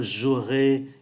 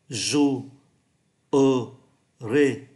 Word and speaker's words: jouerai: là 3 syllabes là jouerai, nhưng mà người ta không phát âm syllabe ở giữa bởi